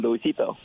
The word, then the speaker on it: Luisito: Well, it's people have a hard time pronouncing, except for the Latino community. You know, with the exception of them, they don't have any trouble pronouncing my full name, Luisito.